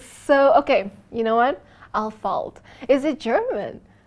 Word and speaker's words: Ahlfeldt: Alpha Dad. Alpha Dad. It's Al. But it's a running joke. It's all right. Al, you know the pronunciation is so Okay. You know what? Al falt.